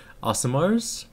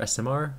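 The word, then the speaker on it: aasimar: So we found Asimars, or SMR, depending how you want to pronounce it.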